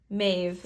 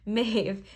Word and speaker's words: Maeve: Pronounced Maeve. See, I wasn't pronouncing it right. Maeve.